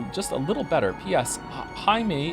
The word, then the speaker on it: Jaime: Jaime is pronounced in like the hide in Hideyoshi, but with an M.